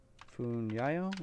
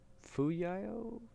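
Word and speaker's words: Fuyao: Funyayo, is that how to say it? Yep, Fu. There's no N. Fuyo Glass Industry. What is their ticker here? Fuyayo.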